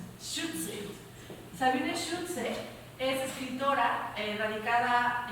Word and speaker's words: Schütze: La primera pregunta que te tengo es: ¿cómo se pronuncia tu apellido? Schutze.